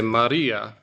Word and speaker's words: Maria: Everyone say Maria. So you might notice that I'm not saying Maria, there's a Maria. There's a bit of a roll in the R's if you're getting a technical Greek pronunciation.